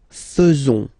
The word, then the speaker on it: faisons: So it's quite strange because French people tend to pronounce faisons.